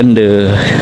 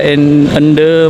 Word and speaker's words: Ende: Ende cara pengucapannya tadi katanya Desa Ende kata Masaka.